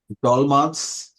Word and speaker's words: dolma: Popular across regions touched by the Ottomans, it is claimed by the Armenians who pronounce it with a T and the Azerbaijanis who pronounce it with a D. Pass. Passing to Ravi. Dolmans.